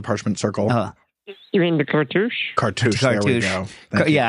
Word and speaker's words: cartouche: You mean the cartouche? Cartouche. There we go. Yeah, I should remember cartouche because rhymes with douche.